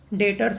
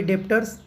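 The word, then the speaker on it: debtors: दोस्तों अब next item 2 items का है, डेटर्स एंड क्रेडिटर्स। इसे कोई लोग डेटर्स, कोई डेप्टर्स, दोनों प्रोनाउंसिएशन करते हैं, डेप्टर्स एंड क्रेडिटर्स।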